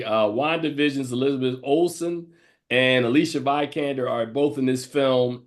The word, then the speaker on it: Vikander: said it right, Vikander.